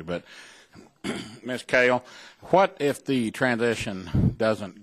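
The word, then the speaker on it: Kehl: Like the vegetable, kale. Kale, okay, that's what I thought it was. Okay, kale. I thought I heard that earlier, but I don't always hear things correctly. But, Ms. Kale, what if the transition doesn't go through?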